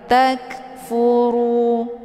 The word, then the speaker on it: takfuru: Takfuru, ru dibaca tebal, yaitu bacaan tafkhim karena ra ini berharokat zumma. Cara bacanya, posisi pangkal lidah juga terangkat ke langit. Takfuru, ru, ya, bukan ru. Beda ya, ru dengan ru.